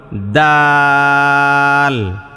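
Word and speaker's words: دال: দালটা স্বাভাবিক লেখেন তবে দালের উচ্চারণটা ওই পাতলাই হয় মানে দল এরকম না দোয়াদের মত যাতে না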